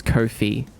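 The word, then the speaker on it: Ko-fi: But they've they've officially came out with a statement to say it was Kofi cuz it rhymes with no fee, but there is a fee and it's the coffee logo and they spell it like Wi-Fi.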